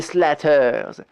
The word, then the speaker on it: Slater: des routes d'État vivent les slatters apparemment c'est la prononciation locale du nom de famille Slater d'où sont issus de